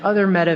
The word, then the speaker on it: Meta: the word meta is pronounced like the feminine form of the Hebrew word for dead and so that was